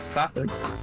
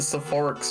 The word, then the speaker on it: Sapphics: I didn't know that's how you pronounce Sapphics. I assume so. How do you pronounce it? Incorrectly, look at the word. I've always pronounced it Sephorix for some reason.